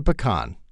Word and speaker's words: pecan: too this is a pecan this is a PE can you really don't want to mix the two when you're ordering something to eat so please be careful how you pronounce it